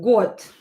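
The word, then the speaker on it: год: got. Yeah, we didn't write an example with the. Got. Got. We have the. The will be pronounced as te if it is located at the end of the word.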